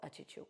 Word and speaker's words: Achichuk: The pronunciation varies based on what area you're from, but we're gonna call it Achichuk, which is how my family calls it.